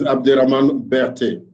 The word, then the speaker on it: Abderahmane Berthe: It's great to have you on board, and I hope I've pronounced your name correctly. Oh, yes, it's correct. My name is Abderahmane Berthe.